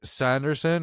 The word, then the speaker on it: Sanderson: We have Jake Sanderson. It's kind of cool because his name rhymes with Anderson, just like Kempe and Kemper vibes.